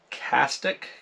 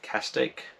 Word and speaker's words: Castaic: one is the original castic castaic so how you pronounce that c-a-s-t-a-i-c castig loco 10 crank bait